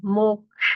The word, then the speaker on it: मोक्ष: ये जो क्ष है उसमें ककार और शकार दोनों का उच्चारण सुनाई देना चाहिए। दर्शनम मोक्ष क्ष, ये जो श